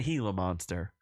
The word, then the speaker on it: Gila monster: to pronounce it properly it is Gila monster J I'm no heel it's not a heila monster anyway um so I'm